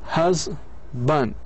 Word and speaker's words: husband: لاحظوا, husband, husband, husband. وين جاءت الستريس؟ في البداية. ليه؟ لأنه في عندنا هنا short vowel. Husband. لاحظوا كيف هي تكتب هكذا. Husband. هذا short vowel, weak vowel.